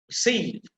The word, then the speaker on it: receive: Now again, if it is a verb or a preposition, and if it is disyllabic, then obviously the stress will be on the second syllable. For example, relax, relax, receive, direct, among.